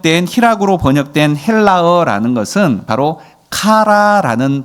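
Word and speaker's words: χαρά: 오늘 이 희락으로 번역된 헬라어라는 것은 바로 카라라는 발음으로 되어집니다. 카라.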